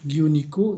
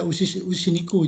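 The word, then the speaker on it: 牛肉: Tori niku, giyu niku, ini giyu sapi, usi ya. Tapi jangan dibaca usi niku, jangan. Tapi dibacanya giyu niku.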